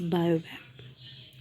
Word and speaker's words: baobab: C, focus on the pronunciation कि इसे कैसे प्रोनाउंस करना है इन डिफरेंट प्लांट्स को। इट्स बायोबैप।